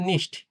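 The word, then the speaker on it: nicht: এখানে দেখেন আপনার কিন্তু হচ্ছে খ এর মতো উচ্চারণ হয়নি, হ্যাঁ? মিলস, মিলস অর্থ দুধ। আবার দেখেন নিস্ট।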